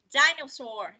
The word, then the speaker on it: dinosaur: Dinosaur. Đọc lại sơ. Dinosaur. Dinosaur. Dinosaur. Dinosaur. Dinosaur. Nhấn âm đầu.